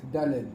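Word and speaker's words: דלת: Après les sfaradim, le dalet, il se termine avec un point de Z. Voilà, une noisette de zaïn à la fin. Chad. Avec la langue sur les dents.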